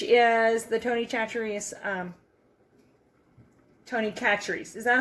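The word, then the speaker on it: Tony Chachere's: on it which is the tony chatrious um tony catchers is that how you say it denise tony catrice yeah famous krill seasoning and this is the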